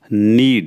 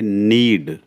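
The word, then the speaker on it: knead: Next word हमारा रहेगा नीड इसमें के साइलेंट है। इसमें पढ़ेंगे हम एन ई ए डी के साइलेंट तो रहेगा यह नीड। यस ध्यान रखना इसका के इसमें साइलेंट है।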